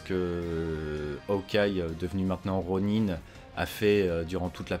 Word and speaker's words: Ronin: évidemment hockey y est revenu en tant que rooney voilà on le voit avec son sabre il revient en tant que rhône un run in peut-être j'ai peut-être une mauvaise prononciation plutôt ronin est ok donc ça c'était vachement supposé c'était